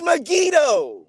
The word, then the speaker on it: Megiddo: says that solomon built nigadoo no it's not megiddo brother it's not it's me it is megiddo it's not brother yes it is like you